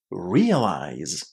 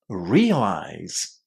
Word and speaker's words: realize: Realize. Realize. Where is the emphasis? The first syllable, right? And this is what you need to remember. Realize is stressed on the first syllable.